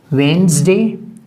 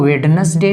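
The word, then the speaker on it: Wednesday: ठीक है Monday ट्यूजडे वेनसडे इसको वेडनेसडे नहीं प्रोनाउंस किया जाता है वेनसडे ये थर्सडे थर्सडे फ्राइडे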